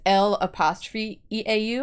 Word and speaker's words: l'eau: It's E-A-U, but when you say it like as a thing, it's L'EAU. Oh, so it's le.